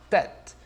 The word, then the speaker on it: tête: Então, como é que vai ficar? Bem aberto. Lembra da expressão tête à tête. Só que no francês um pouquinho diferente a pronúncia. Ó, tête, tête.